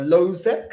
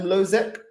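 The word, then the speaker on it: Hložek: uh adam uh uh lozek i think it's called i think the h is silent lozek adam lozeck um also a bit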